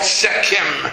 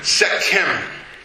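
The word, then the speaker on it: Sekhem: And this is the fifth level in the energy center, and it's called Sechem. It's spelled S-E-K-H-E-M, Sechem.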